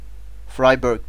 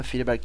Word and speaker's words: friberg: alıp ev altına gidiyor freyberg diye okunuyor ama ben friberg diyorum her seferinde freyberg demeye uğraşamam sanırım diye tahmin ediyorum